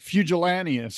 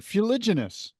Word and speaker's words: fuliginous: And I used the word and I mispronounced the word. I said something like fugillaneous or something like that.